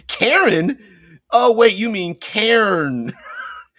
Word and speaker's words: Cairn: Oh wait, you mean Cairn? Yes, Cairn. Although I guess you pronounce Karen the same way.